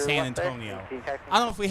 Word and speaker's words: San Antonio: So, here's a showing the 220 that arrived from a co-worker uh a classmate used to pronounce it San Antone. It's San Antonio.